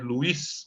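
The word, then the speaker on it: Luys: núcleo subtalâmico de Lui se escreve Luiz mas se fala Lui tá ou somente ncle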